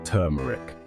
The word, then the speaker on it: turmeric: Now we've got turmeric, the sunshine spice. It's not turmeric or turmeric. It's turmeric, like you're saying term, but with a muric at the end.